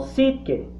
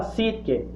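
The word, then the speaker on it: ψυχή: alma en griego hay una palabra que se pronuncia como psique esta palabra sí que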